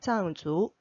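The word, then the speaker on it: 藏族: 짱주. 예. 숨다라는 의미도 있어요. 그때는 인창 해서 아 장 발음이 납니다. 이성이죠. 장 인창 할 때 장 여기서는 짱이라고 있습니다. 짱주. 네. 발음이 두 개죠. 장과 짱.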